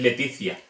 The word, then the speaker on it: Letitia: Es complicado porque se pronunciaría Cia, Cio o Ciu. Por ejemplo, Letitia no es Letitia, es Leticia.